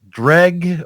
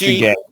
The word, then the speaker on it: Jreg: And you are the famous Junior Egg or Jreg or Greg. Wait, I thought that it was an R right after the G. Now it's G. Yeah, it's J. It's pronounced Jreg.